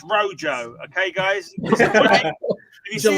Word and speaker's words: rojo: any Spanish speakers out there, it's Rojo.